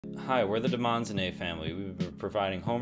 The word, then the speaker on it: Demonzoné: No, that's not Demon Zone. That's Demonzoné. It's not pronounced. We want to make your house a Demonzoné, not a Demon Zone.